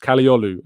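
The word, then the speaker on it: Kadıoğlu: I will do as we speak but ferie kolu um who I'm gonna attempt to spell live on uh cogu there we go but it's pronounced kolu um supposedly uh has had an offer rejected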